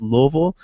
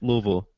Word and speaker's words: Louisville: There's There's only two There's only two syllables. Louisville.